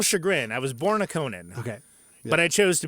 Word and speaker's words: Conan: to my eternal Chagrin I was born a Conan okay but I chose to become a neutron there it is okay that's great and then how pissed were you when Conan O'Brien started a podcast not well when he